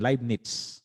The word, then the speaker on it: Leibniz: Leib, yung kanyang L-E-I-B, Leib. And then this is Nitz. Merong T. Merong letter T sang na hindi nakikita dyan. Leibniz.